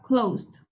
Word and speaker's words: closed: y el pasado sería closed eh Aquí también se pronuncia solo la d Cuando tenemos la s